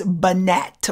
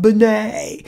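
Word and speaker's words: Binet: and it is spell it looks like it's banette but it's french so it's pronounced bonnay so alfred benay b-i-n-e-t alfred benay i want you to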